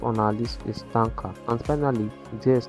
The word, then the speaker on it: Tynker: Number 5 on our list is Tanker. And finally, there is Tanker. Tanker is spelled Tynker.